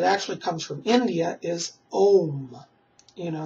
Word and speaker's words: Om: One of the mantras that's very known in the Western world that actually comes from India is Om. You know, it's spelled A-U-M or just O-M, Om.